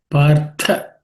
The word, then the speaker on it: Partha: Partha, again that same th appears as the one which appeared in the katham. So it has to be aspirated.